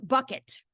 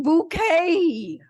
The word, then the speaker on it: Bucket: keeping Up Appearances follows the travails of hin bucket or as she says it's pronounced bouquet on her NeverEnding quest for higher Social Status